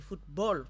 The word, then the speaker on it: football: Voilà, football, on dit football parce que c'est anglais, alors que handball, qui est un mot d'origine allemande, on lit l'énonciation de la dernière syllabe diffère. Donc, ball, B-A-2-L, se dit ball, simplement.